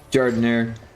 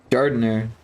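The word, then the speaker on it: giardiniera: Jardinire. What is it? Jardaire. What the hell is Jordan? Jardaire. Got a soft G. Jardaire. Like you put a jar and then you put Daire in the jar.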